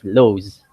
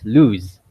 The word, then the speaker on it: lose: But when you see a letter L, you don't really say it as lows, right? You pronounce the English word as lose.